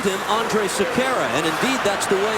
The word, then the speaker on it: Sekera: Andre Sekera, I don't know if you've heard about him much, but he's having a career year.